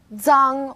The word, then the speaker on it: zang: Its pronunciation is quite similar to the DS sound in English, like cards, but you need to move the tip of your tongue closer to the back of your teeth.